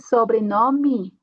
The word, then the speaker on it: sobrenome: Logo aqui, sobrenome. Temos uma E no final, então a pronúncia vai ser como uma I.